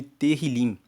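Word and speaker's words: Tehilim: Salmos na Bíblia original são chamados de terril se escreve t e h i l i m e terril significa louvores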